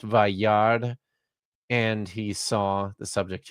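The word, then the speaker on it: וַיַּרְא: Notice the quiescent aleph on the end of this. You don't pronounce it. It's just Vayard, and he saw.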